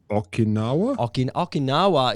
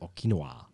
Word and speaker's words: Okinawa: flying the east coast okinawa is often what i've heard is the is the american pronunciation that's what hippies say i've spoken to a japanese gentleman once who corrected me to be okinwa i've never heard it